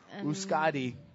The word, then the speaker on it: Euskadi: Euskadi is how you pronounce that in yes, in the Basque language.